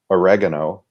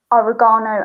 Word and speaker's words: oregano: two herbs themselves we in american english oregano and basil and in british english oregano and basil and basil okay those are those